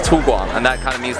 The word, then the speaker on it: 粗犷: OK，第二个就是这个，好吗？Alright，来这个是怎么念？粗什么？粗盲。粗犷。